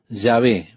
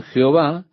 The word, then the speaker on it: Yahvé: El consenso general de opinión es que el nombre sería pronunciado Yahvé, pero en algún momento la pronunciación Jehová se popularizó más que Yahvé. Ahora, probablemente Yahvé es la pronunciación correcta, pero con seguridad de eso no lo sabemos.